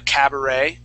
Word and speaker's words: cabaret: or a nightclub a cabaret okay that's that's more of of a nightclub and that's with that E ending and we would pronounce that like uh uh ballet okay but cabinet cabinet